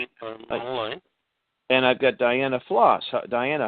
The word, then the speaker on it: Ploss: Ploss once a day. I'm sorry. You know what? I know Ploss. I'm trying to say Ploss it phonetically. every day. No, that's fine. Ploss every day. That's what I say.